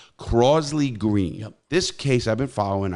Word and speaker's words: Crosley Green: a case on growth if you pronounce it grossly green crossley green it's crosley crosley green this case i've been